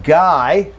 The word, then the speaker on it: guy: Okay, in the same way, we have the U in guy, and we have a U in guide, and both of these are long I, and then a short I in guilty.